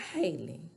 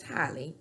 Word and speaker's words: Halle: her name is not Haley her name is Hy the same way that halberry um pronounces her name hi hi Haley hi